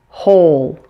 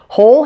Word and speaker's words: whole: it would number eight hole hole has a silent W this word is pronounced exactly the same as a hole spelled h o l e in addition there is